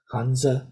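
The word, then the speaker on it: hanzi: characters uh and so in Mandarin itself this would be pronounced hanza something like hanza and in uh Japanese this is pronounce kanji but whether you're saying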